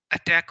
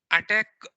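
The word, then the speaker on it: ATT&CK: so i mean the attack i mean attack is not the right pronunciation but people generally call it as an attack or i call it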